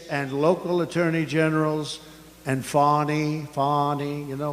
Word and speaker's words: Fani: local attorney generals and Fani, you know, Fani spelled F-A-N-I. My name is Fani, F-A-N-I. I don't figure it. You put a little French accent on the word with her lover Wade, right?